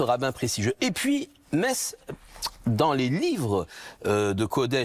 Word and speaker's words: Metz: Alors nous on le prononce à la française mess mais dans ça s'écrit mates.